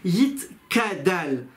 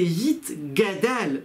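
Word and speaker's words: יִתְגַּדַּל: Il dit par exemple, il ne faut pas dire Yit Kadal. C'est Yit Gadal, que soit grandi le nom d'Hachem.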